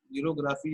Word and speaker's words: xerography: ये आप ये जो वर्ड है जीरोग्राफी, ये ग्रीक वर्ड है। इसमें जीरो, एक ये आप पास जीरोस है, एक साइलेंट है इसमें, एंड दूसरा आप पास क्या है, ग्राफल्स, which mean dry writing. Xerography mean that is a word from Greek language